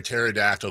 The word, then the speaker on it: pterodactyl: Why can you never hear a pterodactyl going to the bathroom? I think I know this one. I do know it. I won't say it. Because the P is silent.